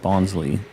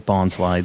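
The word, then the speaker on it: Bonsly: this yesterday so bonsley I've always said it bonsley but I'm pretty sure the correct way is Bond slide they've always said it like that in the show when I thought they were just idiots but it's like Bonsai like the trees it makes sense and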